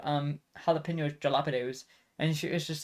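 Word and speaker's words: jalapeños: Like I I dude I used to pronounce jalapenos as dilapidos, dude.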